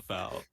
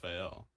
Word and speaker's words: FAL: it's pronounced oh no it's absolutely supposed to be pronounced the fal like in real life but my argument was